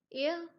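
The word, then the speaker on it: heir: अब ये बिल्कुल एक आर्निकल लाइन है कि एक हेयर क्या होता है, हेयर यहाँ साइलेंट है, एयर बोला जाएगा, इसका एग्जैक्ट प्रोनाउंसिएशन होती है एयर।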